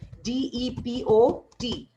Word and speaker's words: depot: DIPO नहीं होगी, इसकी spelling होती है DEPOT, depot. T is silent.